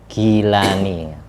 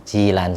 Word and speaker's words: Jilan: Kalau ditulis latin itu tulisannya gilani gilan tapi bacanya ji. Jilan sehingga ditulis Arab ajim.